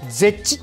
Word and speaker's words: ZEH: するのがこちらこれでぜっちと読みますこれは net 0